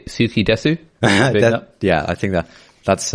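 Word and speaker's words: 好きです: got skidas ski i think i should say suki desu yeah i think that that's uh the authentic pronunciation yeah suki desu sushi garzuki desu um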